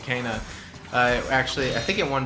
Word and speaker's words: Kena: Was the fucking game Kena or Kana? Kana. They were pronouncing it Kana.